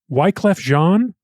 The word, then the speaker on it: Wyclef Jean: And he produced a music video for his campaign with a song called The Trap that features, oh boy, Wyclef Jean?